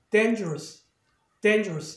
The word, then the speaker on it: dangerous: 그 앞에 모음이 있으니까 액센트는 일로 간다는 얘기죠. 그래서 발음이 dangerous 이렇게 되는 거예요.